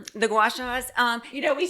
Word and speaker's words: gua sha: The gua shas? Um you know, we said it wrong the first time. So, it's like the little stone that you rub against your face. gua sha gua sha So, do they work?